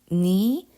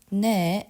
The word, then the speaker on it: 네: the last sentence okay the first letter ne is pronounced as ni to distinguish itself from another letter okay there's another letter nay which means mai and then ne which means you're so to makes the distinction you pronounce this ne as on the heart or